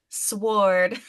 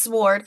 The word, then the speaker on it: sword: drives my sister crazy because I pronounce the W in sword and she hates it I can't help to boy done it I don't care look it's lazy why do you mean silent W it's not real I'm sorry it's sword why even have it there why not just be S so I think it's